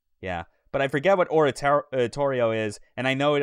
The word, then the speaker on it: Oratorio: Yeah, but I forget what Oratorio is, and I know it always took me a long time to get it in my head. That's how you say it, and not just auto-correct it to Ontario.